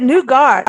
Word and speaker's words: nougat: Nougat, but nougat. I never pronounce that right. Nougat, like ooh, it's really good.